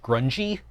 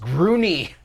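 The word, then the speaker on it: Grungni: Dwarves and their, what was it, their god of the forge, grungy? Grungy, is that it? Is that how you pronounce that? And they'd be like, it's pronounced groony. Groony? Groony. Like a Groot?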